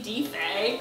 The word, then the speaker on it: Diffy: She pronounced D-I-F-F-Y, but she said Diffy. In my head, I was like, I don't remember reading Diffy. It's Diffy. And you're supposed to balance